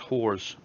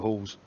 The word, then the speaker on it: Halls: Stuart Halls, not nitpicking, but Halls is pronounced whores. Weird to type it, but hey, I'm not going to call you a whore. But no, thanks, because I would have just kept calling you Halls.